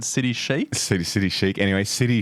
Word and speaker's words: City Chic: Ren for the introduction I chose City Chic please note my pronunciation I think I used to call it City Chi and I copped a